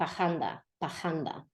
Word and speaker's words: parranda: He's going to, both times it'll be with the word parranda, which when the R is arrastrada, dragged, it'll sound like pajanda.